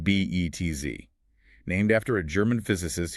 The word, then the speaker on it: Betz: And this brings us to the Betz limit, pronounced b e t z, named after a German physicist who studied fluid dynamics over a century ago.